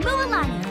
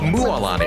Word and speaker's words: Mualani: moani oh hey I'm muani a guide from the a muani okay that's how you I've been saying it wrong this whole time all of that land